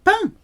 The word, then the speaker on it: peint: Sounds like the French for bread. Peint.